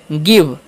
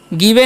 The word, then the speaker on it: give: आगे लिखा हुआ GIVE, तो इसे हम क्या पढ़ेंगे, गिव। गिवे नहीं पढ़ना है। ठीक है, आई का उच्चारण यहाँ पर हर से होगा तो गिव पढ़ेंगे।